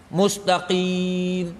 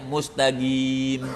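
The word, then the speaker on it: مستقيم: ulama dari Hadramut ya mereka tidak baca qim Mustaqim. Mereka bacanya mustagim. Gim ya. Ah ini lahja.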